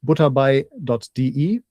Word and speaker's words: butterbei.de: Uh and the site is again German pronunciation butde uh which is butter as in the English spelling bi.de.